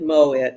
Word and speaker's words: Moitt: Welcome back with my friend Kojenwa, and I pronounce it Moitt.